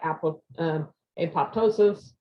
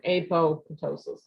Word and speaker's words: apoptosis: it to undergo apoptosis i also want to pronounce that apple apoptosis but it's apoptosis so excuse me for i've been saying it wrong but anyway it causes